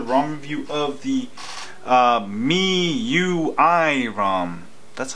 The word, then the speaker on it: MIUI: I've got another ROM review of the uh me UI ROM that's how you pronounce it yes MIUI rom Mi I UI